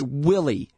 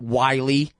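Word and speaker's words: Willey: pronounce Wanita or Willie it's Willie you damned fool not Wy it's got two L's God but anyway sorry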